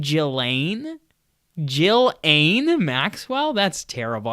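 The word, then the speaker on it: Ghislaine: see that happening um jillane that's how you pronounce this lady's name jillane Jill Anne Maxwell that's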